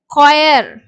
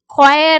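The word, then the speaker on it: choir: சில டைம்ல வந்து பாத்தீங்கன்னா இந்த ஹச் வந்து சைலென்ட் சோ இதை வந்து குயர் குயர் அப்படின்னு தான் படிப்போம் இக்கோட சவுண்ட் தான் வரும் அதே மாதிரி பார்த்தீங்கன்னா ஸ்டோமக்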